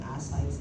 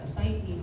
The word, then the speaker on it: ascites: You can pronounce it ascites if you wish, sa inyo, or ascites, okay lang.